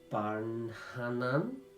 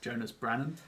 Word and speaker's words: Jonas Brannan: Does the name Barnhanan? I'm pronouncing that wrong. I've massacred that. Jonas Barnhan was the name that was. Jonas Brannan. That's it.